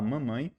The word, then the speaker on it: mom: mamãe e aqui pessoal na hora que a gente vai pronunciar com a palavra com m no final a gente acaba de pronunciar com a boca fechada então a gente fala mam sabe se a gente falasse com a boca aberta no final é o n de Natal então mam com a